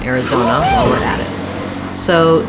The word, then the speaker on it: Arizona: Then when I'm looking at Arizona, I have the stress is on the zone syllable, third syllable. Although this letter AR does say the air good vowel, so again I have a clear vowel there, air, Arizona.